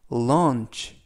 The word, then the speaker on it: launch: 이때도 유의하실 점은 A를 빼고 lunch 하면 lunch, 점심 식사 lunch라는 단어와 혼동을 하시면 안 됩니다. 그래서 발음을 비교해드리면 점심 식사라는 단어는 lunch, 그리고 이번 단어는 lunch. 약간 길게 발음을 하셔서 lunch라고 발음하시면 구분이 되겠습니다.